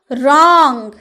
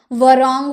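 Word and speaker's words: wrong: रैप यानी की लपेटना रोंग व का उच्चारण आया वारंग बोले नहीं ना हम क्या बोले रोंग गलत जो हम लोग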